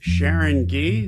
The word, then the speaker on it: Sharon Gee: We are here today with Sharon Gee. Did I pronounce that correctly?